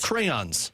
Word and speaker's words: crayons: No, you Crowns.